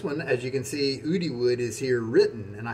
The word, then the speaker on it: Oudyood: And Oudyood, I maybe said Oudyood, I'm sorry, because it's spelled Oudyood. O-U-D-Y-O-O-D is how I'm reading that.